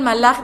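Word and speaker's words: מלאך: bien curioso esto porque hay que pronunciar bien las palabras porque si no estamos diciendo otra cosa no pudemos decir vino el malaj del eterno porque estaríamos diciendo vino el sal del eterno y no y hablando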